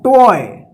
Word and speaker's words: toy: में OY रहता है तो OY का ओए उच्चारण होगा, ठीक है। जैसे यहां पे देखिए JOY, इसको क्या पढ़ेंगे, जॉय, TOY, टॉय, BOY, बॉय, ठीक है ना।